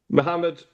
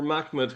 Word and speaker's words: Muhammad: Notice there he says Muhammad or Mhmed, however you want to pronounce it.